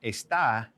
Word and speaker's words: está: you start to see how those 2 words are spelled the same. They're actually pronounced the same, but the emphasis is different. All right, to this. Now, got those down? Este, esta.